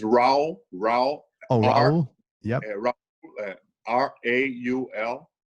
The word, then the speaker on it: Raul: How do you spell that? It's Raul.